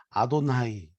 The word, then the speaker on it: 아도나이: 거라서 바로 바지 못했습니다 그래서 그분들은 아도 라고 바꿨습니다 예 호 라고 아놔 아라고 바람 해서 아도나이 라고 발음을 하게 된 것이죠 그래서 하나님을 아도나이 로 부드러운 바람을 합니다 감히 하나님을 이름을 내 입에 올릴 수 없다 해서 그렇게 1 유대인들은 그렇게 발음 했던 거죠 얼마나 하나님을 경우에